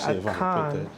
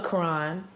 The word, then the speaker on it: Akan: It's a con, not a Put that in the camera, not too close, but y'all see that? That's pretty live. Yeah, a con, not a Quran. I said it wrong, but a con.